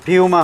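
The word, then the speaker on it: Puma: ৳400 এখন আবার এই যে অরিজিনাল দেখেন অথেন্টিক পোমা পোমা কিন্তু আপনার বাই দা ওয়ে এটার প্রোনাউন্সিয়েশনটা হচ্ছে ফিউমা হবে বাট ইউজুয়ালি পোই বলে এজন্য আমিও পোমা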